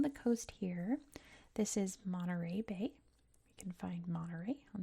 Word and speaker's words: Monterey: It's like, yes, that's how we pronounce it. It's Monterey.